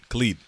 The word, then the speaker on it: Khalid: did over elements speaking albums how do you pronounce his name is it ali khalid cali leader Khaled Khalid okay Khalid came out